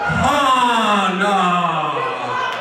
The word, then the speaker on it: Hannah: Accent on the ah. Extra ah. Excuse me, Miss Hana. Cody got it.